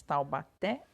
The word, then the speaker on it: Taubaté: Taubaté passar as palavrinhas Taubaté e passar são oxítonas pois a sílaba tônica é a última significa então que a